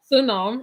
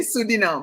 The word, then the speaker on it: Suriname: Suriname. I always say it wrong, don't I? You say Suriname, but it is with an R.